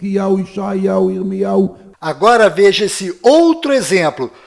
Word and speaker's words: ישעיהו: Nesse vídeo, que foi produzido dentro da Universidade Hebraica de Jerusalém, nós vimos que o nome do profeta Isaías é pronunciado Ishayahu.